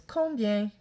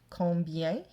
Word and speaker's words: combien: Our next one is combien. Combien means how many. And you'll see on can be spelled O-N or O-M.